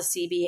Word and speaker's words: Cibi: And the CB is spelled CIBI.